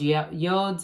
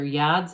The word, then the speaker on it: yod: And so you've got all those yods or yads of the tarot, either pronunciation acceptable.